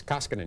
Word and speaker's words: Koskinen: country and say it the right way it's koskinen you've been doing well well I'll tell you it's but we've had you on several times it's still it's tough because somehow throw you know mispronounce it and it throws you off it's a Finnish name finish name uh Terry